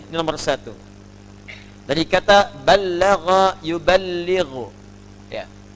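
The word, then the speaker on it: بلغ: Dari kata balagha yuballighu. Ya. Balagha dibacanya, bukan bahasa Sunda balaga, ya.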